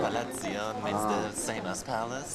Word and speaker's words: Palazzo: And the Italian way, it's pronounced Palazzo. Palazzo. Palazzo means the same as palace.